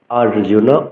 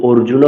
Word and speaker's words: অর্জুন: আথা দ্বিতীয়াধ্যায় সাংখ্যোগ আর্জুন উবাচা অনেকেই কিন্তু অর্জুন বলে। এখানে কিন্তু ও নেই। আমাদের বলতে হবে আ আরজন উবাচা কা থাম ভিষ